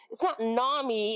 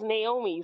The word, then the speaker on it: Naomi: It's not Nami. It's Naomi.